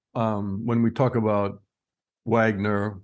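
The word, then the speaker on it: Вагнер: when we talk about Wagner or Bogner as you pronounce it in Russian is there anything to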